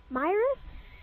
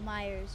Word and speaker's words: Myers: The killer's name is Michael Myers? No, Myers. You said it wrong.